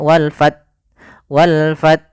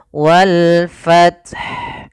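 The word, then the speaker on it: وَالْفَتْحُ: bacaan akhir wal fath, ini usahakan haknya terbaca. Ada yang kesalahan yang sering terjadi adalah tidak membaca haknya. Misalnya wal fath tidak ada hanya, harusnya ada wal fath. Yang pertama matikan ta dengan sifat hamasnya, at baru ha, wal fath.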